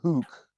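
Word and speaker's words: Houck: like 25 FBI agents knock this uh Mark Hooke uh yeah you know the cancer culture fear-mongering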